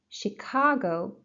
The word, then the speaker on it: Chicago: Chicago, second syllable.